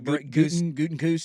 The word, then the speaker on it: Gutekunst: Yeah, Gutekunst says they're close. Isn't that how you say his name? Their GM? Yeah, Brian Gutekunst.